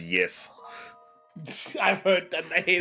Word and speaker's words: GIF: Fun fact: it was something like in the past, a G was said as a Y, so the correct pronunciation for it is Yif.